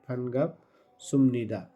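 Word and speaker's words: 반갑습니다: কথা, কিন্তু এটা হবে ফানগাপ সুমনিদা। তো সুমনিদা কেন হলো, এক্ষেত্রে বিউপ আছে, তো এখানে নিউন আছে। নিউনের আগে যদি বাচ্ছিম থাকে বিউপ, তাহলে সেটা ম হয়ে যাবে, ম উচ্চারণ হবে।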